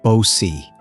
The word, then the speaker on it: Bao Si: He's obsessed with a concubine named Bao Si, pronounced Bo Si.